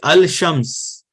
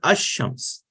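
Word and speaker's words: الشمس: will be pronounced but over here you cannot say al-shams it is ashrams now the easy way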